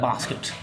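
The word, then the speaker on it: basket: I lead the kittens in द बास्केट, मैंने kittens, बिल्ली के बच्चों को कहाँ रख दिया, बास्केट में। ब्रिटिश पीपल इसको प्रोनाउंस करते हैं बास्केट, अमेरिकन इसको प्रोनाउंस करते हैं बैस्केट।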